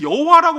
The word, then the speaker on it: 야훼: 그래서 여호와라고 우리는 알고 있지만 더 원어에 근접한 건 야훼 하나님이에요. 그 발음이.